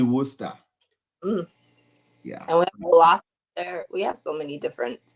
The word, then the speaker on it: Worcester: would probably read that is it Worcester yeah yeah but it's actually Worcester we have so many